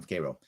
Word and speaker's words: Cairo: factory of the day in k k row that's not pronounced cairo's from k row new york you brought up a